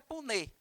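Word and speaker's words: Punnett: aqui para vocês né escreve-se p n n e t pun tá mas a pronúncia é pun Então como é que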